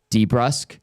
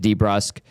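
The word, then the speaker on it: DeBrusk: Jack went and started calling Louis and Jake de Brusk Debr because he had a conversation with Louis one day and Louis like well really it's supposed to be pronounced de Brusk and uh we just start calling it de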